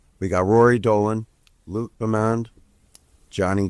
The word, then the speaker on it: Bemand: We got Rory Dolan, Luke Bemand, Jonny G. Welcome and welcome back to the Upful Life podcast. Luke Bemand. Bemand.